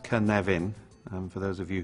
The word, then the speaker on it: Cynefin: this is the Canadian framework pronounced kan leven and for those of